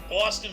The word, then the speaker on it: Austin: Texas in the U.S Austin rhymes with Boston Austin you kiss my